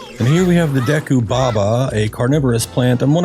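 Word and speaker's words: Deku Baba: And here we have the decu baba, a carnivorous plant and one of Hyrule's more aggressive flora, or you could say deu baba if you're leaning a little bit more into the Japanese pronunciation thing.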